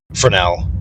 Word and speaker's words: Fresnel: name is for now but his name is pronounced fresnel but it's spelled f-r-e-s-n-e-l because it's French yeah